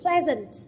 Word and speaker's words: pleasant: Thế nên cô sẽ chỉ xét trọng âm của tính từ pleasant, đúng không? Mà tính từ của hai âm tiết trọng âm rơi vào âm tiết thứ nhất, thế nên tổng thể